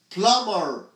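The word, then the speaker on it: plumber: اسمه ايه بلومر يعني البي دي مش بتتنطق بلومر انسى ان البي دي موجوده بلومر يعني هو السباك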